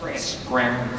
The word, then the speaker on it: Scranton: We don't pronounce T's, so it's Scranton.